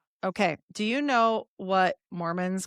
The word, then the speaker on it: Mormont: And then we've got this Zionetic Mormon brotherhood. Okay. And and this headquarters of this Rosacruian order of Zion was in Mormont. M O R M O N T pronounced Mormon.